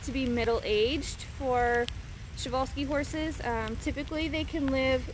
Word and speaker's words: Przewalski: in the united states so um chevalski is actually spelled with a p now will these horses